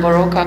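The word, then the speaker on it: Boróka: and thank you for having me and I'm baroka and I'm a Transylvanian artist um it's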